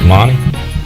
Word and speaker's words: Monty: ways with monty lee say you pronounce it monty yeah full monty monty lee after seven seasons with